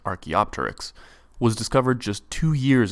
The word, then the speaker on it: Archaeopteryx: lack of transitional fossils Archaeopteryx and yes it's pronounced Archaeopteryx was discovered just two years after Darwin's research